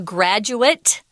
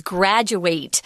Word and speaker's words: graduate: I wanted to mention there's a difference in pronunciation. The words are spelled the same. The noun is a graduate. Graduate, sound at the end, and the verb is graduate.